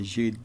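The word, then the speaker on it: Jeudy: I know most people say Judy, but I say Judy because that's actually how you say his name, which means it's a French word for Thursday.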